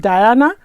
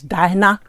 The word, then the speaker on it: Dyna: what you get with diana oh i keep calling her diana it's dinah please bear with me dinah i know i keep calling your name wrong so please bear with